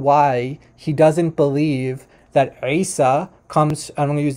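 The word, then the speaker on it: عيسى: So what he was saying was that that the name Isa in Arabic starts with the letter Ain, which is this guttural sound from like the throat.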